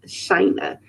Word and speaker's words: Shynna: china key everything and of course it is pronounced china china like china but with an s okay